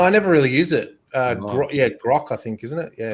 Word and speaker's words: Grok: what's happening on the timeline is to use G-Rock. I'm using to build my video. G-Rock, you know the AI on Twitter? You can say... Grok.